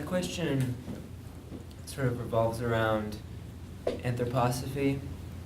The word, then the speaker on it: anthroposophy: sort of revolves around anthroposophy they pronounce it correct and like anthropology except instead of Logie which means knowledge it's Sophia which means Divine Feminine so let's see it's